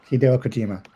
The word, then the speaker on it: Hideo Kojima: Yep, Hideo Kojima. How you said it. If you listen to anyone speaking Japanese saying his name they would not say it like that like you just said it.